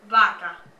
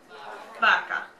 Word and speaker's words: vaca: Try saying vaca, vaca, which starts with a V, actually. It's V-A-C-A, but it makes more of a B sound than a V sound, okay?